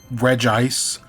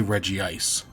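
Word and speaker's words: Regice: I will always say I know it's Regge Ice. I will always say Reggie Ice.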